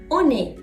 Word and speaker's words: on est: Et finalement, on est. On est. On est. Oui, liaison. Bravo.